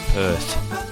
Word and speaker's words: Perth: I think it's pronounced Perth.